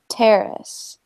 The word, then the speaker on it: terrace: terrace terrace good yeah we want to put the emphasis on the first syllable terrace yeah I know it's